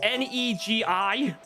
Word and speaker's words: Negi: No, because the word is spelled Negi. Oh. I get you. It's meant to be the Japanese word for spring onion.